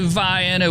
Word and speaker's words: Vienna: but look at there they even got the pronunciation in the uh location tag it is Vienna it's not no relation to the sausage though it has nothing to do with sausages but uh anyway Vienna